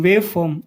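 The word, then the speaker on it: waveform: वेवफॉर्म are silent रहता है।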